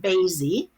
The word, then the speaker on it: Baisy: Any win is the story of a young woman named Baisy, rhymes with Daisy, who is born in the year 2069 in a very utopian futuristic society.